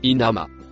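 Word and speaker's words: إنما: Le premier mot vert et noir se prononce inama.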